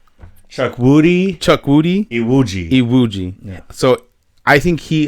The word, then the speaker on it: Chukwudi Iwuji: It's Chukwudi Iwuji.